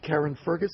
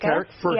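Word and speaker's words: Carrickfergus: Karen Fergus, how do you say it? Carrick Fergus.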